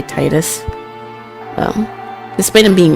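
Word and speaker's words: Tidus: Titus might be a self-insert. And yes, I pronounce his name this way, so fight me. I don't care if it's not the uh official version of saying his name.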